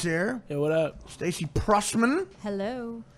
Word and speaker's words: Prussman: Stacey Prussman. Hello. Is that how you say it? Prussman, right? Yeah, you got it right.